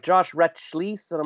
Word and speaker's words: Rachlis: Like it should probably be Rachlis, but we say Rachlis.